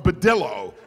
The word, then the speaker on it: Badillo: on them that said brillo for from Badillo is how he hoped people would pronounce it so they wouldn't think